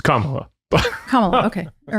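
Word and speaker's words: Kamala: I'm like Trump and I said I'm not voting for for I thought I said it right. Camela. I was like I'm not voting for Camela. It is Kamla.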